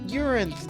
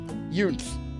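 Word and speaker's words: Eunthe: I read that name wrong. It's eu n t h e. Yunth. Their name is Yunth. I read the N as an R and an I together. It's Yunth.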